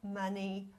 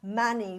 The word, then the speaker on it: Mani: And then you're going to say Mani, which is a 2-syllable word, which means jewel, which is seeking the enlightenment, because enlightenment is the jewel.